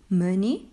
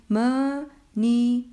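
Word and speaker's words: مني: Mani, remember, don't break up. Don't say m, ni, no. Mani. And don't drag, don't say money. No, you're not allowed to drag the kasra. It's a short I sound.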